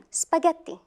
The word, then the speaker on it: spaghetti: if it's not there let's check this word spaghetti we pronounce it as G as or it's like